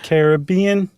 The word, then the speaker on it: Caribbean: conk is in the Caribbean or is it Caribbean because I heard someone say it once it's the Caribbean yeah you have to say it like you're about to sing the Billy Ocean song yeah Queen yeah but